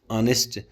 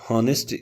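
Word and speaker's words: honest: ये एच जो है साइलेंट है, ऑनेस्ट होता है।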